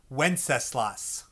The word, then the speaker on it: Wenceslas: That's pronounced Wenceslas.